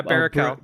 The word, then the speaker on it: Baruchel: Baruchel. I just don't want to say. I just don't want to say it wrong. Yeah, Baruchel.